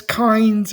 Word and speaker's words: Kynes: So it's Kynes and it's it's Harkonnen.